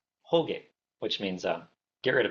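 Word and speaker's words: Hōge: So in Japanese it's it gets romanized as H O G E, but it's actually a long O. So it's like whole.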